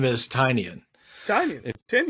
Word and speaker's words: Tynion: Tiny onion so I believe his name is tinan tin ten it's tinan I promis it's tinan because I looked it up before this podcast